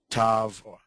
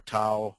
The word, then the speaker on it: Tav: and finally we have Tav or Tau pronounced both ways which is a hard th okay this has really